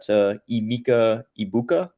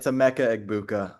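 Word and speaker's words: Emeka Egbuka: I got Emeka Ibuka. Is that how you say his name? He's pretty good. Yeah, And close then enough. For um, reference, it's a Mecca Egbuka.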